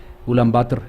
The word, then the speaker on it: Ulán Bator: vemos ahí en mongolia la capital de mongolia es en español ulan bator sin embargo ellos lo pronuncian como un váter esa última o no la pronunció en ulán bator es la forma en que lo pronuncian de manera correcta allá y como lo dije